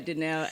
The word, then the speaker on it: Dineo: yeah, Dineo. It's 1, 2, 3, 4, 5 letters, alphabets. Not that Three difficult.